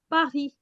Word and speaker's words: Paris: We write it as Paris, but we pronounce it as Paris.